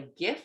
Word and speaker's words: GIF: It's called a GIF or GIF, depending on how you pronounce it, where you get those little icons.